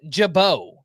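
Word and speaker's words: Gibaut: It's Ian Jabau. spelled G I B A U- T. You don't need to know how it's spelled.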